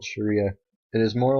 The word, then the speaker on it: Sharia: It is pronounced Sharia.